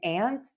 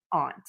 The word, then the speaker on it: aunt: topic of discussion is, are these words pronounced the same, ant and ant, or are they pronounced different, ant and aunt? You can actually do either. I say them the same most of the time.